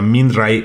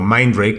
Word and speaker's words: Mindray: Eh, el otro día una marca, por cierto, china e que se llama Minay o Mindray, como lo quieran pronunciar ustedes, e me invitó a su showroom.